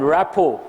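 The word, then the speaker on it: rapport: you all know that and rapo here T is silent rapo means good understanding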